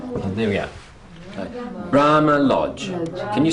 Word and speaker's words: Brahma Lodge: Brahma Lodge. Bra. Lodge. You're both correct. It is. This is the strong one, and this is the strong one. And there we go. Okay. Brahma Lodge.